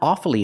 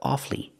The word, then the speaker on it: awfully: it's very very difficult pronounce it with two syllables not awfully hard but awfully awfully hard and awfully sorry but